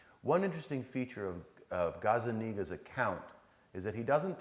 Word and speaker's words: Gazzaniga: got it, I thought about it, is this Gazzaniga guy, is that did I say his name right? Gazzaniga, yeah.